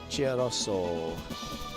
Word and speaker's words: Cherroso: Cha like cheer. like Chia. Okay. Cherroso. Cherroso.